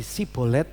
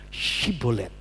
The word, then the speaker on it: syibolet: Kalau saudara baca Ibrani itu namanya sin dan syin. Nah, seperti itu. Jadi sibolet dan syibolet.